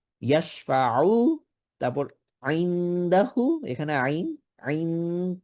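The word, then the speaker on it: يَشْفَعُ: ইয়াশফাউ, আইন যেন উচ্চারণটা ঠিকভাবে করি। ইয়াশফাউ, তারপর আইনদাহু, এখানে আইন আইন, দেন আবার ইকফা আইনদাহু।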